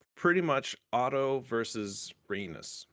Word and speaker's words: Rhaenys: It's pretty much Otto versus Rhaenys. Rainier.